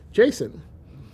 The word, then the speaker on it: JSON: And so we said, well, let's call it, JavaScript object notation, because then we can pronounce it JSON, like Jason and the Argonauts.